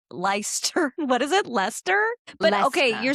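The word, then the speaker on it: Leicester: It's L E I C E S T E R. And you're saying that's what Lester So, I feel like that's your that's your fault.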